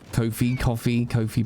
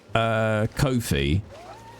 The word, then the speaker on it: Ko-fi: I've had more people pronounce it like lo-fi. See, I always thought it was Kofi or coffee because it was about